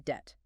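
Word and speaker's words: debt: were more likely to pronounce the silent B in det. The B is silent.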